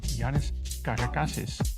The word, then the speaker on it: Yiannis Karakasis: My name is and today we're going to talk about Greek wines with master of wine Janice Kardakasis.